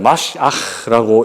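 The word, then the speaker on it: מָשִׁיחַ: 메시아는 히브리어인데요, 정확하게 읽으면 마시아흐라고 읽을 수 있습니다.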